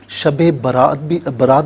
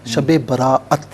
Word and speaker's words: شب براءت: شب برات بھی نہیں ہے، شب براءت۔ ہاں، شب براءت، بالکل ٹھیک۔ بہت سے لوگ سمجھتے ہیں برات کی رات۔ جی، تو اسی لیے صحیح تلفظ اختیار کرنا چاہیے۔ اچھا، جہاں تک اس